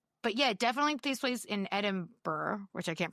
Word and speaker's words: Edinburgh: Um, but yeah, definitely place in Edinburgh, which I can't pronounce. Edinburgh.